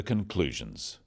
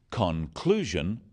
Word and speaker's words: conclusion: The wrong stress makes it hard to understand. So, conclusion, not conclusion. Products, not products.